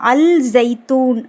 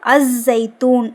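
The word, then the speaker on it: الزيتون: அல்ஜைத்தூன் அப்படின்னு எழுதி இருப்பாங்க. ஆக்சுவலா அது தப்பு அஸைத்தூன் அப்படிங்கறதுதான் கரெக்ட். எப்படி தெரியுது லாம் உச்சரிக்கணும் உச்சரிக்க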